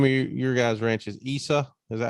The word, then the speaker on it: Isa: The name of your guys' ranch is Isa. Is that how you say it? Yeah, it's Isa, short for my sister's name, Isabel, and Okay.